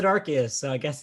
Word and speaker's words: Arceus: it's arceus no the the video pronounced it with a hard c arceus yeah by two vowels yeah weirded me out too i was like arceus it's arceus i always read it as arceus because it's followed by